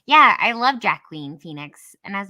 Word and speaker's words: Joaquin: and she's like oh is that how you pronounce this yes not jack wheat so whenever i like i see his name i have to like it's watching not jack queen it's jack queen phoenix so so he's got